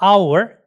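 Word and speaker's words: hour: 자, 그 다음에 이제 on을 쓰는 게 뭐 our, h가 묵음이라 그러죠.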